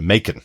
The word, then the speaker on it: Macon: Um I know it's really tempting when we see that word written down John to pronounce it in a kind of a French or Canadian way but they're they are proper Yes, I could say McConaughey.